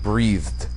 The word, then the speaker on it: Breathed: It's spelled like breathed. Like I breathed yesterday, I'm going to breathe tomorrow. Burke Breathed. With an E, not a U.